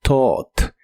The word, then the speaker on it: taught: Es un verbo irregular y en este caso solo se pronuncia la tic del final, pero con una o en medio. Así que es taught.